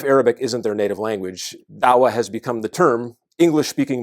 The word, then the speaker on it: Da'wa: Dawah is the term, or maybe daqwa, sometimes it's pronounced daqwa in Indonesia or daqwa in parts of Africa.